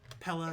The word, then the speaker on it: Pella: Pella. It rhymes with fella.